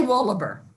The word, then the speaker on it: Wohleber: knew that was coming I would say wallaber Jones wallaber yeah that's my last name all right all right